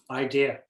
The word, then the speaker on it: idea: guys yeah I mean when I say idea I don't say the R so you hear the a a lot more yeah okay and am